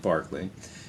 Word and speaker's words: Berkeley: the Irishman George Berkeley, looks like Berkeley, but they pronounce it Berkeley, and the Scotsman David Hume.